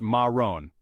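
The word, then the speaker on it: marron: color is brown or Marin in French we pronounce it Maron chapter 12 our final color is subtle versatile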